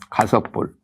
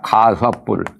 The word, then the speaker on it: 가섭불: 가섭불. 입력자를 여기서 발음을 섭으로 합니다. 가섭불.